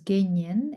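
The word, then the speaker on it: དགེ་བསྙེན: first one, which is Genyen in Tibetan. So it would be like Ge, ge, and then Nyen would be like Nyen. So something like that, Genyen, if you want to transliterate it.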